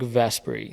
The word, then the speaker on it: Vesperi: Vesperi, am I pronouncing that correctly? So that's Project Vesperi.